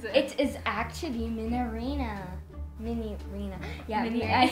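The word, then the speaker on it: Minireena: Minarina.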